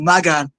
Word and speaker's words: Magan: wrong so before so it's not Megan it's Magan no that's what I